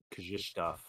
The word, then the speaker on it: Krzysztof: Krzysztof, I think is how you pronounce it.